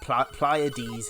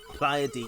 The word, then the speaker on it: Pleiads: I was like, I need to know how this is pronounced. And Pleiads is apparently the correct pronunciation. Pleiads, yeah, there we go.